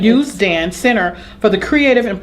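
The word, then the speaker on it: Usdan: youth classes and the US DAN. Am I saying that right? We pronounce it Youth Dan. Youth Dan Center for the Creative and Performing Arts.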